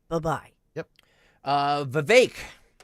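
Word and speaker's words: Vivek: right bye-bye yep uh vake rhymes with cake oh boy was on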